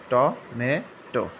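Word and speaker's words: tomato: আর এটা হচ্ছে টমেটো বা টমাটো, আমেরিকান, আর একটা হচ্ছে ব্রিটিশ উচ্চারণ, দুইটাই সঠিক।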